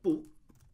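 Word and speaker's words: 不: And usually, typically it'd be spelled with or it'd be written out, or it'd be pronounced with a fourth tone. But if there are two fourth tones right next to each other, for instance, we have bu shi, then this sounds very awkward.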